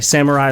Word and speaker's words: samurai: they also wear um let me just pronounce it the American way Samurai like armor I I'm